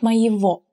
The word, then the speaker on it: моего: От моего. In this word, you may have noticed that г is pronounced as в.